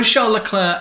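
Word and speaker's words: Charles Leclerc: it happening at the end of the season Leclair although Charlotte Clair and you do pronounce it like that I promise is in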